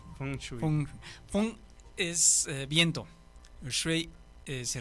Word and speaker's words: Feng Shui: ¿Cómo se pronuncia, perdón? Feng Shui. Feng Shui.